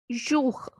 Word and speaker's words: jour: Next is OU. It has sound U. So the word is jour.